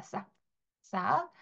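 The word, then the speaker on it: sac: 뭐 예를 들면 힙색 이런 얘기 많이 하는데 어 프랑스어로는 색이라고 하지 않습니다. 자 싹이라고 합니다. 싹 싹 자 같이 읽어 볼게요.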